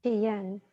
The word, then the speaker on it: quien: Quien. Quien. Quien. And when we've got more than one vowel, here the U is going to go silent because it's Q-U-E or Q-U-I, right?